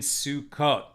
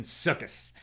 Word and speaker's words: Sukkot: Who is going to be with us on this fine Thursday night as we're getting close to Shabbos and Sukkot, or in the more Ashkenaz pronunciation, Sukkos?